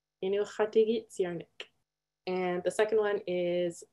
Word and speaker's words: Inuqtuurunnarniq: So the first one is Inuqtuurunnarniq. Inuqtuurunnarniq.